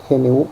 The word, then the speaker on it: GNU: Entonces tú puedes pronunciar y hablar del sistema operativo. Es correcto decir GNU o New Linux.